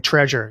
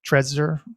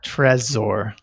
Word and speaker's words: Trezor: how do you say you're not saying treasure you're saying something else Tresor what how do you spell that one t-r-e-z-o-r t-r-e-z-o-r asor Tresor gotcha and Ledger is just